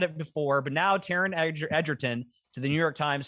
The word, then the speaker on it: Egerton: idea and now yeah taryn eggerton is that i might pronouncing it correctly edgerton actually is it edgerton edgerton that's even more annoying edgerton oh my god eggerton is fine but like anyway taryn